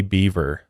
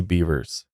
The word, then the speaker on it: Bevers: his statement here and he also mispronounces her last name he says Missy Beaver it's Missy beavers yeah well give him